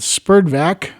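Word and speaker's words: SPERDVAC: radio people there was also an organization called spurdvac which stood for and that's spelled s-p-e-r-d-v-a-c stood for society to preserve and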